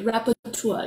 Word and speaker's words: rapporteur: Okay, rapporteur.